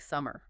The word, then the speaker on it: summer: It just means the R sound isn't pronounced if it's at the end of a word or if it comes before a consonant sound. It basically disappears. So in that letter, words like summer. Forever, heart, more, your. In RP, the R in those positions is silent.